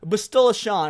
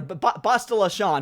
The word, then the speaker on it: Bastila Shan: at the history of Star Wars, we got Bastila Shan, or Bastila Shan, who apparently I've been saying her name wrong my whole life, and Badger had to correct me the other day. Bastila Shan.